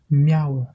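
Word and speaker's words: meabhair: Par exemple, comme dans le mot mi, qui signifie moi, mi, mi, et le mot miauer, miauer, qui signifie mémoire ou esprit. Quand le M est une consonne large, la prononciation est la même du français, le son du M.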